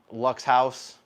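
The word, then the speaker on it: Luxhaus: is a 53 millimeter lux house so really really nice brand i can't really it's pronounced l-u eric spelled l-u-x-h-a-u-s so i think this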